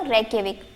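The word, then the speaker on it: Reykjavík: तो देखिए हमने देखा आइसलैंड, जिसकी कैपिटल थी रेक्यविक। क्या है? ये थोड़ा डिफरेंट प्रोनाउंसिएशन है इसका, रेक्यविक।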